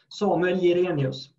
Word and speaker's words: Samuel Jirénius: Yes, I guess you would pronounce it in Swedish, in English. In Swedish, it would be Samuel Jirénius.